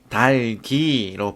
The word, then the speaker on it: 닭이: 닭이 뭐예요? 뒤에 형식 형태소잖아. 그래서 뒤에 것만 뒤음절 첫 소리로 옮기면 달기로 발음이 되는 거죠.